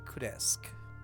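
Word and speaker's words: Kresk: There's a village called Kesk. Like crash with a K. K. K R E S K.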